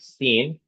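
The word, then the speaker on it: سین: Seen has no dot and it gives the sound similar to the letter S of English language.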